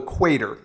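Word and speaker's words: Cuater: this is a shoe called theater except it's spelled c u a t r so hard to spell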